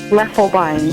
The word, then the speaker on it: Loeffelbein: Loeffelbein. Loeffelbein. All right, everybody with me. Loeffelbein. And I'm going to look at it and I'm going to go Loeffelbein.